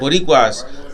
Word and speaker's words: Boricuas: Boricuas, they feel as though we're different, right?